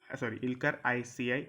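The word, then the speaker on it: Aycı: इनका नाम है इल्कर ICI, मतलब AYCI। मैं आपको स्पेलिंग बता देता हूँ, AYCI।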